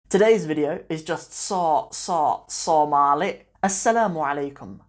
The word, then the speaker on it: soo: my Somali diary we're talking about the word saw in the Somali language and I particularly wanted